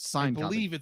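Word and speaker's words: Syncopy: to figure out what how you pronounce that sign copy pronounced sign copy sign copy Inc and uh Atlas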